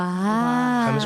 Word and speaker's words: James: Para explicarles cómo se pronuncia James Rodríguez, uno escribe Rames. ¡Guau! James Rodríguez.